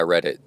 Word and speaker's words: Reddit: And Reddit is uh it's supposed to mean yeah, I read it already on the internet.